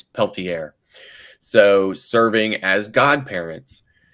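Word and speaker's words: Pelletier: It's peltier.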